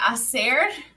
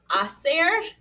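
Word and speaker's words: hacer: they make awesome and remember that h is silent i don't actually hear it in our pronunciation right thomas yeah bueno okay then final chart we made it but now one more chart acer in the preterit tense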